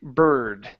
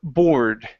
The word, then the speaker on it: board: the board okay now be careful with the word board it sometimes it sounds like you're saying Bird Okay instead of bird it's or bore bored bored there you go B